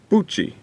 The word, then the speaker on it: Buchi: get to revolution Avenue Buchi that's how you say my name and thanks for stating my prayer presence thank you for being here King Buchi so you get down